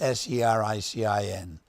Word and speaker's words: sericin: You spell that S-E-R-I-C-I-N.